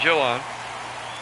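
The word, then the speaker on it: Jhoan: in major league history Johan Duran will come out C pronounced it Joan I was hearing the public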